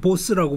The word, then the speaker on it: Bose: 그래서 그냥 보스라고 부르시면 됩니다. 보스가 그 두목의 그 보스예요?